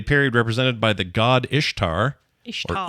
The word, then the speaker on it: Ishtar: For pagans, this is a period represented by the god Ishtar, or Ishtar is how you pronounce it, the god of fertility, who is represented as a rabbit.